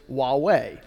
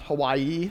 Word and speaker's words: Huawei: the pronunciation of huawei the thing on your lanyards is huawei not hawaii not some other term it's a company name